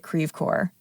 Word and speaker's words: Creve Coeur: town of Creve Coeur it's a French name but we pronounce it Creve Coeur that's Midwestern French today creepcore is mostly